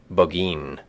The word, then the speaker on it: Burgoyne: Nutting had a famous foxhound named Burgoyne. He pronounced it Bogeen, which my informant used to borrow.